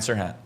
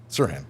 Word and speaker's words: Serhant: it so you say it out loud Brian Sirhan Sirhan okay sorry I'm just putting that tea on